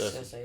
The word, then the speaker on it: Cersei: Yes, because there's actually a story about how Jaime and Cersei, is that how you pronounce it in the show? Yes. Cersei, yeah. Cersei? Yeah.